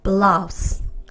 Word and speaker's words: blouse: 거의 발음 나지 않습니다. 자, 그래서 합칠게요. blouse.